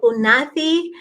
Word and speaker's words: Unathi: I'm going to correct you there. It's Unati.